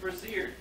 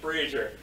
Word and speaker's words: brazier: between the 2 groupings, stands an empty, unlit brazier that's covered with soot and smells faintly of cast fire. Drapes of dust-covered spider webs cling to the ceiling. Nate, it's pronounced brazier.